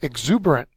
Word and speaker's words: exuberant: our next word is exuberant little girls really excited about something it's an adjective second syllable as the accented mark it means high-spirited or